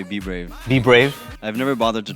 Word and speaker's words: BBRAVE: I normally say BBRAVE.